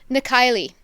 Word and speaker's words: Na Cailligh: Um, how you pronounce the name? Nikki.